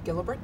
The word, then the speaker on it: Gelibert: to do is to say your name and spell it and say your title and then what company works right it's Gilbert my are L e and E